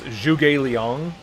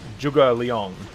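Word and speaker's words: Zhuge Liang: when I was younger I thought his name was J Leong it's juga Leong like there's a difference to it it's close but it's not quite there and I want to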